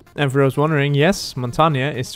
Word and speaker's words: Montagne: for those wondering yes Montana is the way you pronounce it in French it means Mountain which